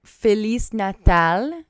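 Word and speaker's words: Feliz Natal: Kenny Ray Horton so felis natal was correct everybody to say Merry Christmas in Portuguese you say felis Nal at least according to the Google pronunciation person I don't wanna lie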